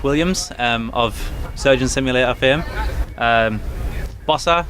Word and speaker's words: Bossa: Bossa Studios, am I pronouncing that correctly? Yeah.